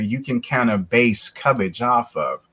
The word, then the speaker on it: Cubbage: Speaking of the last name, Cubbage, which we should also point out is spelled C-U-B-B.